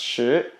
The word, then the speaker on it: 食: But in Mandarin, the word sick, this verb over here, it's pronounced shi.